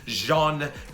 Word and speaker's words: Jean: It's Jean Kirstein. Some of y'all didn't even know it probably was pronounced like that. I didn't either. I had to look it up. Jean Kirstein. So, Jean Kirstein, he is a 7-hander, 22 health, with